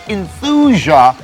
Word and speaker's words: Enthusia: of the game with a title that sounds way too much like euthanasia it's enthusia professional racing the title